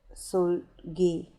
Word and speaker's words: Seulgi: is going to be sulji uh turn um actually i think it's pronounced soul gee and not sultry silky uh i'm learning here